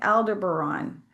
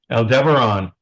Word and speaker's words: Aldebaran: So, what are some common qualities of people who come from Aldebaran? Aldebaran. Some people call it Aldebaran.